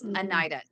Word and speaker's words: Anahita: It's spelled Dr. Anahita, but it's Anita.